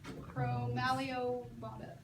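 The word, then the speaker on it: Chromalveolata: Chromaleobonda is how you say it.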